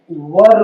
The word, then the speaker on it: were: तो इस तरह से इसको वेयर नहीं पढ़ना है, वर पढ़ना है।